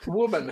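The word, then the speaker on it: Wu Man: Woman. Her name is Woman. I don't know which woman you're talking about. I know. Okay, well, this woman is spelled differently, okay? Gotcha. Her name is W-U-M-A-N.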